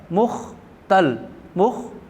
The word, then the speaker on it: مختل: ہو سکتے ہیں، تو اس کا اصل لفظ ہے، تلفظ ہے مختل، میم پہ پیش اور خے پہ جزم، تے پہ زبر اور لام پہ جزم، مختل۔ مشغلہ، تو اس پہ